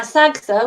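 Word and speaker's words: SGSAH: the Arts and Humanities now Saga which is the way we pronounce the acronym is a body which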